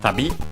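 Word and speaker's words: 旅: technically a compound noun from tabi, okay, accented on the last syllable, which means travel, trip, journey.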